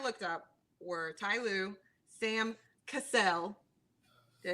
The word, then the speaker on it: Cassell: the coaches i looked up were ty lou sam cassell did i say it right yes yes absolutely